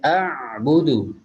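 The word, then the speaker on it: أعبد: Dan juga di sini ada a'budu. Jadi di sini ain ditekan, tidak boleh menjadi a. Tapi karena ain dia punya sifat tawassut sama seperti huruf lam, jadi harus dilunakkan ketika membacanya.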